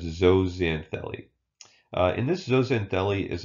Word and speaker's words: zooxanthellae: crazy word here just just remember that the X is pronounced as a Z so it's zooxanthellae and this doesn't Delhi